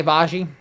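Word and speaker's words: Agbaji: then they gave up Ochai Ajbaji, I want to say is the way you pronounce it. I'm kind of glad he's... Try Abaji. Abaji. Abaji.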